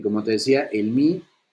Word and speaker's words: mu: Y como te decía, el Mi, que esa es la forma correcta de pronunciarlo, Mi, por su nombre en griego, es el de mayor